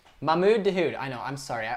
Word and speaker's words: Mahmoud Dahoud: It's Mahmoud Dahoud, bro. Not Mahoud. Mahmoud Dahoud.